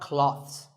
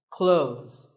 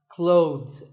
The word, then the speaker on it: clothes: well first of all this word is not cloths when we say clothes the th in the middle can often be silent close but it's not wrong if you say these letters with a the sound clothes that's also correct in some words people